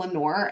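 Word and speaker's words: Lenoir: um in North Carolina there's a town called Lenor and it's spelled like this and actually super planner girl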